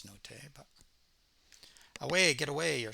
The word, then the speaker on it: Nottet: I think I said his name wrong a couple of times previously, so forgive me for that. I know it's Nottet, but away, get away, you're such a freak.